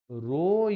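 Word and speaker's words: rho: তাহলে দেখো, তাহলে আমরা লিখছি আর equal to রো into l/a। এইটা হচ্ছে রো, উচ্চারণ হচ্ছে রো।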